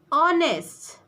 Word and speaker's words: honest: Ours, honest, ours, honest, As you can see that these nouns are begins with the consonant letter because H includes in a consonant letter. But the H is here silent word.